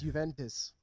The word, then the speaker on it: Juventus: That's, I love your pronunciation of words. It's Juventus.